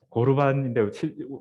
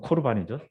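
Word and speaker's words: קָרְבָּן: 예, 고르반인데 실제로 발음은 코르반이죠.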